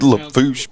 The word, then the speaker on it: Lafourche: there's too many letters It's pronounced Lafourche Parish no yes when I was up there